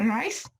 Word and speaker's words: RICE: Y ya en el tratamiento no farmacológico se va a basar en las siglas en inglés, se pronuncia RICE, que en inglés pues sería Rest, Ice, Compression